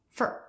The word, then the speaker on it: for: As an adult, he was also tied to the letters F, O, R, even though he himself pronounced it as fur, as if it had no vowel at all.